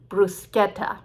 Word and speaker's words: bruschetta: say yes everyone loves bruschetta but we don't call it the italian way bruschetta why because nobody corrected